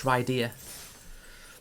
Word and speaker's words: Rydia: When I first played Final Fantasy IV, I pronounced her name as Rydia. And I just think now I look back and I think obviously it's Rydia, like Lydia but with an R.